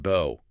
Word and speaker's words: bow: It could be pronounced bo rhyming with go.